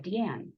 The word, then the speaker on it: D'Ann: I don't know if you guys saw on the first slide, but my name is spelled ', capital A-N-N. It's the French spelling of Deanne.